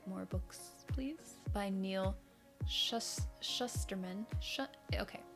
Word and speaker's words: Shusterman: Okay, I thought it was Schusterman, but then I saw other people, and in the audiobook they pronounce it differently. So I think it's Shusterman. There's not another H though, so it's hard for me to say.